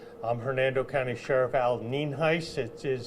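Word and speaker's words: Nienhuis: I'm Hernando County Sheriff Al ninis it is spelled n i n h i s and it is pronounced nen Heist um first of all I want to lay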